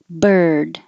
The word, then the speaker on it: bird: Bird. Looks like IR, but this ER, like her, remember, is this sound.